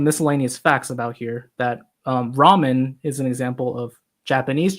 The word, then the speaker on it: ramen: facts about here that ramen is an example of Japanese Chinese food. And they adapted a Chinese dish called la mian, and in Japanese is pronounced ramen.